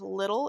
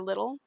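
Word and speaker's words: Lidl: he goes to I believe it's pronounced little it's LL I we don't have that here LI or little and he gets a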